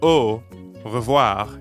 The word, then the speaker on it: au revoir: english letter o but keep them rounded the whole time don't relax at the end how we normally do in english try to hear the difference between an english o o versus the french is spelt a u and here it means until